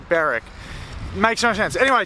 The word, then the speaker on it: Berwick: day so far right now we are in barrack or Berwick depends how you want to say it guys let me know how you would say it's literally spelt be e r wi CK but it's pronounced barrack it makes no sense anyway today we are